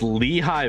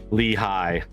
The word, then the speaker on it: Lehigh: It's pronounced Lehigh Valley. Oh, I didn't see the H. I was seeing L-E-I-G-H. I didn't see the middle H. Lehigh.